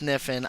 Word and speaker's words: Kniffin: Hey guys, I know it's pronounced Kniffin. I'm saying Kniffin on purpose, okay?